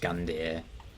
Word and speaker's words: Gundyr: pronounced incidentally eudix uh gundir i assume is just gun deer this is kind of